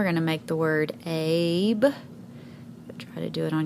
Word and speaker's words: Abe: And then our E is silent, which actually it did the job of making this A say its second sound, A. So that's why we have the word Abe.